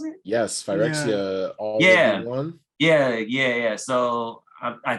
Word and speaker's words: Phyrexia: Phyrexia? Is that how you pronounce it? Yes, Phyrexia.